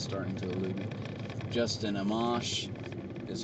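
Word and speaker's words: Amash: uh Justin uh and and I've still the pronunciation of his last name is starting to elude me Justin amamos is how ran Rand Paul says it uh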